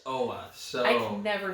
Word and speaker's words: Oa: It's Oa.